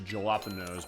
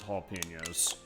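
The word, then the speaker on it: jalapeños: If I'm gonna pronounce it as it actually looks jalapenos, but no, it's jalapenos.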